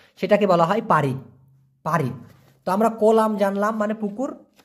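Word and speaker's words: parit: হলো পারিট পারিট পি এ আর আই টি উচ্চারণটা হবে পা রিত ক্লিয়ার দেখা যায় আচ্ছা পারিত এই পারিত মানে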